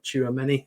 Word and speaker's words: Tchouaméni: Tchouaméni, is that right? Yeah, that's right. Probably said that wrong. Tchouaméni.